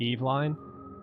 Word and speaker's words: Evelyn: grandmother was called evelyn but it's that's not how you're supposed to pronounce it i don't think i can't he's supposed to pronounce the eve line but everyone always says evelyn so yeah hey i